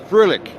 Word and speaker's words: Froehlich: I don't know, we discussed why we never met before, and it is, now you pronounced it, Froehlich? Froehlich.